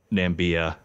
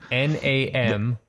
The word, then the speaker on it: Namibia: way to say it i always call it nambia i'm probably that's probably incorrect n-a-m-i-b-i-a namibia oh namibia they actually they actually have